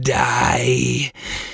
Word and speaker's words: 大: sounds even more threatening dai which means great in japanese it's the equivalent to nintendo adding super or ultra in a game's name but here it sounds like dai as in d i e as in death oh my gosh i